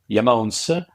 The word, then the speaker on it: IAMONES: rock and roll uh so the other part of the name comes from the remote and that's why the pronunciation is yamon and um why that